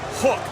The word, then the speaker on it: Huck: Wowski and Hook. You'll see the names on the graphic on the screen. It looks like Huck and Guaki. We have confirmed the pronunciations. It is Hook and Guavasi.